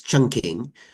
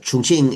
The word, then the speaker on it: Chongqing: They temporarily moved 800 miles up the Yangtze River to the southwestern city of Chongqing, known in the West at the time as Chungking, but Chongqing is the more accurate Chinese pronunciation, and that would be